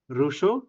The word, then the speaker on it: Rousseau: আর এই সময় পাবেন হচ্ছে জ্যাক রুশো, ROUSSEAU, রুশো।